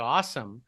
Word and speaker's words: Awasom: Awasom, and I'm calling him Mr. Awesome because that's how I would pronounce his last name.